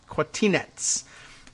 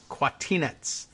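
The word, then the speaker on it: Kwatinetz: It sort of looks like Martinez, but with a qua, K-W, Quatina, but it's Quatinetz. It's N-E-T-Z is the spelled, and Quatinetz.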